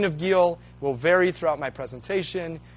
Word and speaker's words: Geel: American literature um and it's pronounced G in kind of a a Flemish way I can't do that so it will be Gil uh throughout okay so